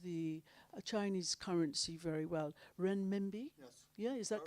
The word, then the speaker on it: renminbi: trade undertake trade in the and i never pronounced the chinese currency very well renminbi yeah is that correct or good wow thank